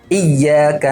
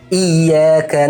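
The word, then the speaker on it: إِيَّاكَ: Nabr itu adalah penekanan yang harus kita lakukan pada huruf ya bertasydid. Jadi ditekan iyyaka na'budu wa iyyaka nasta'in. Jadi ada beberapa orang yang membacanya tanpa penekanan, bahkan seperti tidak mentasydidkan sama sekali menjadi iyyaka na'budu.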